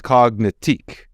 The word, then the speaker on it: Cognitique: It's cognitique. Like, the emphasis is on the end.